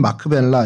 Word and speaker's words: 막벨라: 그래서 큰 성체 같이 생긴 그곳에 그곳이 이제 막벨라라고 약간 예고편을 좀 보여드렸는데 이 막벨라는 히브리 말로 뭐 발음은 마크벨라 이렇게 할 수 있는데 겹쳐졌다, 혹은 이중 이런 의미를 갖고 있습니다.